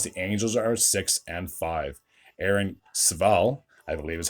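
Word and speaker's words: Civale: Aaron Sval, I believe is how you pronounce that name.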